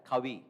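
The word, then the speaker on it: Covey: So that's why Steven Kawi we write it as coe o v y by but pronounced as kawi the author of seven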